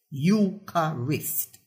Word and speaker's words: Eucharist: There are, for example, 3, not 2 syllables in the word Eucharist, Eucharist, and not Eucharist.